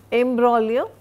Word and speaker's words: imbroglio: Imbroglio, G is silent, a violent and complicated quarrel.